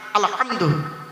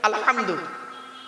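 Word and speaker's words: الحمد: নামাজ পড়তে গিয়ে কি বলি আলহামদুলিল্লাহি রাব্বিল আলামিন আলহামদু গলার ভতর থেকে উচ্চারণ করবেন আলহামদু এর বাংলা মানে কি আলহামদুলিল্লাহ মানে হচ্ছে সমস্ত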